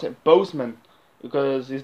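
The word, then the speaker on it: Boseman: say more time talking about chadwick postman um bossman bozeman sorry i thought i called bossman in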